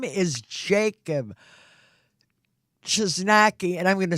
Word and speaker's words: Chojnacki: on his first okay his name is Jacob just Nike and I'm gonna spell it it's ch Oh J and a see